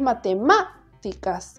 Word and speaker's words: matemáticas: fuera grave sería matemáticas esdrújula porque es matemáticas es como que uno se da cuenta que esa es la sílaba que se pronuncia con mayor fuerza si fuera sobre esdrújula